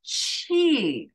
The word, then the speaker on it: Qi: is that cheat energy Qi who the heck thought of spelling it with a Q it's pronounced Chi okay so do any